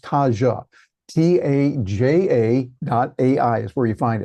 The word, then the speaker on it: Taja: It's called Taja, pronounced Taja.